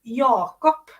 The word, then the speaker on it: Jakob: So yeah, but Jacob is Jakob in Swedish. Jakob. Yeah, Mhm. that's the ja. Lots of I think other country or other languages do the J with a ja.